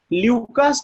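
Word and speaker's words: Lucas: ठीक है, एक टेस्ट पढ़ने जा रहे हैं जो बहुत फेमस टेस्ट है, ल्यूकास टेस्ट इसको कहते हैं, कुछ टीचर ल्यूकस भी कह देते हैं। प्रोनाउंसिएशन बहुत ज्यादा मैटर नहीं करता, मैटर ये करता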